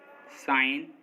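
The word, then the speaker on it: sign: जी साइलेंट, एन से पहले आया जी हमेशा साइलेंट होता है, मतलब अगर किसी वर्ड में एन से पहले जी आएगा तो जी साइलेंट होगा। जैसे डिजाइन, रिजाइन, साइन, campaign, foreign, no, इन सभी वर्ड्स में देखिए एन से पहले जी आ रहा है और एन से पहले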